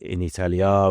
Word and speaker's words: in Italia: So Italy is Italia, but in Italia with a long A is the ablative, and then it will tell you ablativus est.